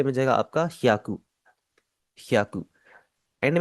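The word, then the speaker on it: 百: सबसे पहले 100 को हम जापानीज में कहते हैं ह्याकू। पहले आपकी HYA की आवाज है, ह्या, और उसके आगे कू है, तो ये बन जाएगा आपका ह्याकू, ह्याकू।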